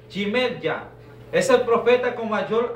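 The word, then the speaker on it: ירמיהו: El libro de Jeremías en el hebreo se escribe Jimerya.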